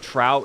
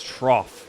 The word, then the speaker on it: trough: It's not trout. It's trough. Or for trrow.